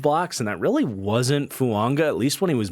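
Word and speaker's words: Fuaga: But let's get into the top 5 with Talise Fuanga out of Oregon State. There's a silent N in there with the pronunciation. But talk about the total opposite than J.C. Latham with Fuanga, in a guy that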